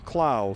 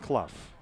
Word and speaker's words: Clough: Marblehead quarterbacks last name I will call him Clow for the rest of the game Andy cloud not Clough so Clow has a